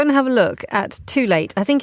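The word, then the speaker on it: Tul8te: So everybody, go and have a look at Too Late. I think it's spelled T-U-L, the number 8, T-E.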